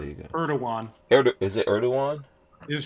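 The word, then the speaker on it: Erdoğan: Is it Erdogan? It is pronounced Erdogan.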